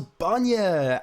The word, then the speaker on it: Banyah: So Banyah, Banya, milk, but it's phonetically spelt, and milk in Gaeilge, if anybody is watching from abroad.